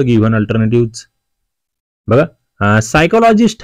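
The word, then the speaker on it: psychologist: सायकोलॉजीची पी एस वाय पासून सुरुवात होते. पहिलं म्हणजे इथे ना वाचताना येस या आपण साय म्हणतोय, साय सायकोलॉजी, पण आधी स्पेलिंग मध्ये पी असतो, तो सगळीकडेच दिलाय.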